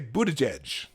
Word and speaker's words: Buttigieg: Buttigieg. Okay, Buttigieg. I said it wrong the first time.